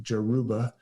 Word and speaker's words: Yoruba: This is a god, a very important god of the Yoruba nation, the Yoruba, or sometimes I've heard it pronounced like Jeruba.